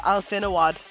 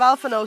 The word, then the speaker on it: Alfano: nasty is it he calls alphano alfinawad and it it I'm like the names are spoken my dudes who have you up the pronunciation of alfano so badly yeah I've been